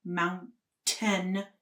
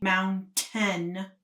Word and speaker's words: mountain: was, I know that you natives here don't like to pronounce your T's, but in my class, I want you to understand that it is pronounced mountain. Hear me? Mountain, not mountain.